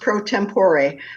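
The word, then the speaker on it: pro tempore: you're the president if I'm pronouncing it right Pro tempor right it's actually pronounced prot tempor but that's okay it's just a Latin Latin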